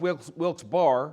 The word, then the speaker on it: Wilkes-Barre: We started in Philadelphia and then went over to Harrisburg and then to Strasburg and then to Wilkes-Barre, which should be pronounced Wilkes-Barre.